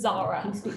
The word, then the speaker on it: Zara: sarah yes all right sarah what were you going to say she's trying to say her name is zara zara oh sarah okay zara what what are